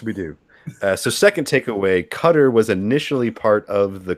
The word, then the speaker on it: Qatar: how to pronounce like people have been there have told me that the closest way to say it is Qatar, like just like Cutter, pronounce it that way.